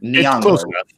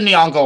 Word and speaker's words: Nyong'o: Is that how you pronounce her last name? Nyong'o.